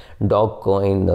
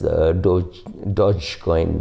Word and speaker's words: Dogecoin: Dogecoin, again very funnily named as Dogecoin. It's not DJ. I mean, it's pronounced as J, not as G, right?